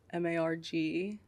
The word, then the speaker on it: MARG: Spotify is just Marg, MARG. It's pronounced Marg, by the way. I feel like a lot of people don't know that. Mm-hmm. Which is just like half or quarter my name, Margarita.